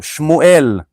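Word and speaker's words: שמואל: How you pronounce Samuel in Old Hebrew? Shmuel. Shmuel is the name.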